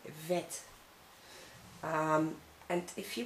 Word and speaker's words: vet: Next vowel, it's the E in your case, but we say E, like in vet. In Dutch we say vet.